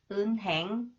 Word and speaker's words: 은행: are followed by h the pronunciation of h must be eliminated but in reality people may pronounce h weakly or not pronounced 은행 은행 은행 은행 은행